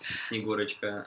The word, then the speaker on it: Snegurochka: It's just his granddaughter, Snegurochka, and some of the snowmen, you know. That sounds interesting. Can you say her name again? Snegurochka.